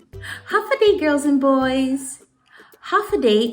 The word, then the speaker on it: Håfa Adai: Håfa Adai is how you say hello here on Guam.